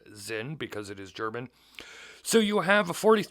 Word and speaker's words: Sinn: Zin 240 St I'm going to probably be pronouncing it sin for the rest of the video that's just